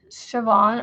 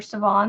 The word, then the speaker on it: Siobhan: it was it oh it was s i o b h a n and it was like shioban or savon like you like you pronounce it but it was s